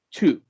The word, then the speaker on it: two: Que suena como si fuese tú. Es como si fuese tú. Pero la T que pronunciamos al principio, dado que está combinada con esta W, suena como si tuviese una S también en medio.